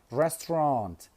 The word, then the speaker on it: restaurant: Restaurant.